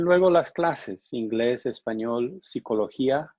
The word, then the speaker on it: psicología: And luego las clases, inglés, español, psicología, notice the P is silent, sociología, geografía, química, etc.